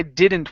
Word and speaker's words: didn't: bit okay let's try didn't one more time give me a a good d instead of a Spanish D you're saying didn't did didn't didn't didn't